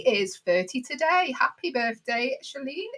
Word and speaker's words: Shailene: Happy birthday, Shailene. Is that how you say it? Shailene? Yeah, Shailene.